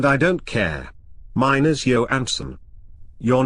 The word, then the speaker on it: Johansson: And for God's sake, Richard, it's Johansson. Why do you always pronounce the J so hard?